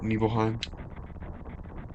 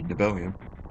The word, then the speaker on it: Nibelheim: The Mako reactor at Nibelheim? I think that's how it's pronounced. I used to say Nibelium when I was younger. I'm pretty sure that's wrong.